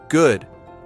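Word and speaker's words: gut: Good. G. The u sound is important. Say ooh. Then round your lips more.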